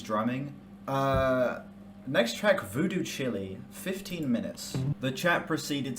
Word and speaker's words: Chile: Uh, next track, Voodoo Chile, 15 minutes. The chat proceeded to absolutely ridicule me for that pronunciation. And in my defense, that word does not read as child the first time you read it.